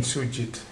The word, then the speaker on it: Sujith: Did I pronounce it right? It was precisely how Indians would call it. Yeah. What does that name mean, Sujith?